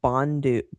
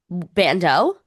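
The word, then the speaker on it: bandeau: Yeah, this Bondi Blake Bondu Bondu. How do you pronounce that? Bando. Like a strapless The Bondo. Yes, the Bando.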